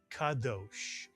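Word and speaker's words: קדוש: How would you read the first syllable? Ka is correct. And the second syllable? Dosh is correct. Dalet and the holam and the shin. Dosh. Put the word together and you get kadosh, mitsuyan.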